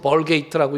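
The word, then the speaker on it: Vulgate: 영어로는 벌게이트라고 읽는데 벌게이트가 불같타라는 말이에요.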